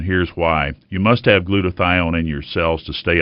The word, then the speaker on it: glutathione: Glutathione. Doctor, what is glutathione? Am I pronouncing it right?